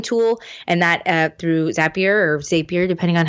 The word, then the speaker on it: Zapier: to my scheduling tool and that app through zapier j.pierre depending on how you want to pronounce it zaps over to Trello creates a